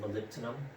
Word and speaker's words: molybdenum: some people might say but denim is actually pronounced molybdenum okay the next uh element we're going to